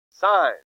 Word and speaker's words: sine: Since it's sine, I want you to write sine. And again, you don't say sin, but whatever. Okay, it's sine. That's how you say it.